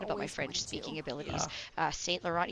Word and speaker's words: St. Laurent: St. Laurent, you really don't pronounce the last T in it.